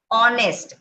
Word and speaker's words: honest: Okay, दो there is consonant, okay, H, okay, but it's pronounced like O, honest.